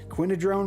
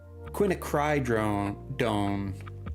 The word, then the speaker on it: quinacridone: Quinadrone red. So yeah, it's honestly not. Quinacridone.